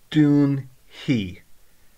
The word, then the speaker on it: déan: looking at this and it looks like fade but you'll hear the way I pronounce it now doon he now you can pronounce it as a he or a fee most people would say he so it's doon he doon he - you will close